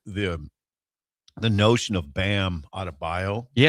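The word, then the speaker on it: Adebayo: The the the notion of Bam Adabio.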